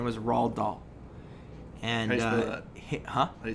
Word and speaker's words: Roald Dahl: lion there was an author his name was Rahl doll and uh huh I spell that rh ra h LD d aho roald dahl okay and Roald Dahl used to write you